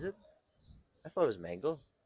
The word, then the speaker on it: Mengele: Very Joseph Mengele.